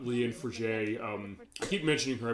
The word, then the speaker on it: Forget: And the Forget, that is actually spelled out Forget, but they have the T is silent, which is pretty funny, actually, as far as that.